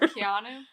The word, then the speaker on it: Keanu: Keanu.